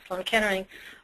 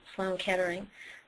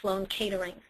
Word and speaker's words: Sloan Kettering: it and that was Sloan Kettering but because of my father's act he pronounced it like Sloane catering and so I had this